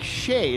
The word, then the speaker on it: Shaed: it says shade and it says pronounced like shade and they had a